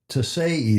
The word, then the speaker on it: Tesei: Andrea Tesei Tesei is how I checked the pronunciation of that Italian name.